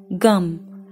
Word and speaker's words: गं: अर्थात गण के आदि अर्थात ग का पहले उच्चारण करें, उसके बाद वर्णों के आदि अर्थात अ उच्चारण करें, उसके बाद अनुस्वार उच्चारित होता है। इस प्रकार अर्धचंद्र से सुशोभित गम ओंकार से अवरुद्ध होने